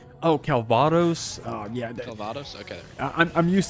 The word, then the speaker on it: Calvados: Oh, I forgot how to pronounce Calvos? Oh, Calvados.